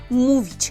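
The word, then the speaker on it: mówić: Помните, что она читается как у. Окресковане читаем как у. Поэтому му. И, например, глагол мувич – говорить.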